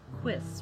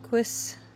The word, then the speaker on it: quis: Hugh, so it'll be quis, right?